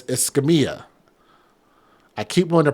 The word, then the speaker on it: Escamia: It's Escamia. I keep wanting to pronounce it in a different way just because I just have trouble saying it.